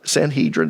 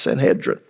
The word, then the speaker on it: Sanhedrin: Jews which is the Sanhedrin some of you pronounce it s Sanhedrin that's fine uh if you look in the Greek it's pronounced Sanhedrin I soon discovered it